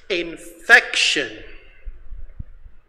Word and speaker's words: infection: Now, infection has three syllables. One, two, three. The second syllable is stressed.